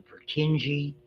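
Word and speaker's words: Purkinje: any place else that's called a pereni cell that's the way you pronounce that these are some of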